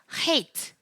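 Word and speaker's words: חית: 네, hate는 제가 발음에 유의하다라고 말씀드렸는데 발음은 표기하기로는 흐 발음이라고 표기를 하긴 하겠지만 여기에 이렇게 넣고 싶어요. 저는 괄호로 해서 그래서 특별히 목을 긁는 소리. 네, 그래서 흐라고 발음을 하시면 됩니다.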